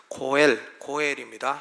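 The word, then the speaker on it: גֹּאֵל: 고엘입니다. 한번 발음해 보시죠.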